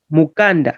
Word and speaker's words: mukanda: So this one, you'll be fast. The book type of the spelling is you have to be fast when reading it. Mukanda. But the circumcision type of it, you have to be slow. Mukanda.